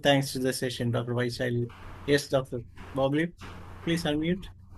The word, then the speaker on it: Vaishali: How do you pronounce that, doctor? Vaishali.